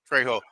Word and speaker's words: Trejo: that actually has Danny Trejo in it, and I think he actually directed. The J is silent. Right. Spanish. I know it's Trejo.